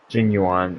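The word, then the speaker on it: Jing Yuan: Jin Yuan, okay.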